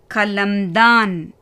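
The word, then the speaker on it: कलमदान: இதில் 3ஆம் எழுத்தும் 5ஆம் எழுத்தும் வியஞ்சன். அதனால் இது ரெண்டுக்கும் புள்ளி வச்சு உச்சரிப்பு கொடுக்கணும். கா லா மா தா ந கலம்தான்.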